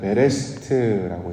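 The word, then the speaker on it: בראשית: 이걸 이제 히브리 말로는 베레시트라고 이제 발음을 하지요.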